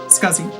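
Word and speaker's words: SCSI: i good i think i'm how do i pronounce scuzzy scuzzy you are sure you've always said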